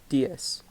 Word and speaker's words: diez: 10, diez. So even though there's a Z, you still pronounce it as an S.